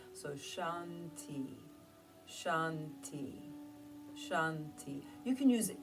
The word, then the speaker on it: Shanti: And the word Shanti, Shanti, S-H-A-N-T-I, Shanti, actually means peace. Since it has two syllables, some people enjoy in their mind as they inhale, they're saying Shan, as they exhale, they say Ti. So Shanti, Shanti, Shanti.